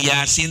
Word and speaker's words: Yasin: Yang Yasin tuh double A panjang, double I panjang, Yasin gitu. Ya pakai A depan, Yasin. Ya lu baca begitu.